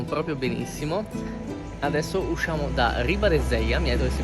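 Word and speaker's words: Ribadesella: How do you pronounce the name of this town? Ribadeseia.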